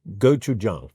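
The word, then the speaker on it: gochujang: It's about getting the a right.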